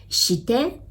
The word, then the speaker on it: して: So して it sounds like the S word, the shit word again, right? So how you pronounce して is the first part is the sh, right?